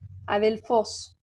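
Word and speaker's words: ἀδελφός: Es decir, por ejemplo, vamos aquí, comencemos con adelfos, ¿sí? Adelfos es una palabra, ¿de qué tipo? Es una palabra oxítona que tiene acento agudo en la última sílaba.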